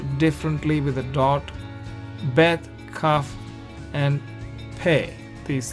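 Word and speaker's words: כּ: But once dot is there, it becomes softer. It's pronounced as ka.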